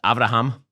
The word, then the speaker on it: Abraham: What he's trying to do here, by the way, is that in Hebrew, Abraham is pronounced Avraham.